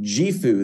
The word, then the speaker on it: JIFU: new year you can see here it is pronounced jeu this is Japanese for an abundant life what